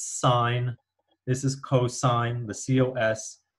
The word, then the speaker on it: sine: you can see here even though it says si n we do we don't pronounce it's in its sign this is cosine the